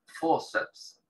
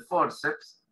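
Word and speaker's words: fórceps: Luego tenemos la palabra forceps, que en español se escribe igual, pero con acento en la O.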